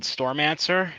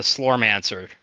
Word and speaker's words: Slormancer: I actually have been playing another game called Stormancer, if I'm pronouncing that correctly. Mm-hmm. Let me make sure I'm pronouncing that correctly. It's an ARPG. It's one that has been in the Slormancer.